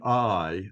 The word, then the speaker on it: Ai: Hebrew uh the city I the highlighted part in the yellow is just pronounced I it's an ion and a yode but there's a hey